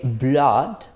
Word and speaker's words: blood: right so we don't say blood and or fluid right so because normally when we have when we have two o's together we usually pronounce ooh it can be a short or long o but it's usually uh but these are like exceptions right so blood and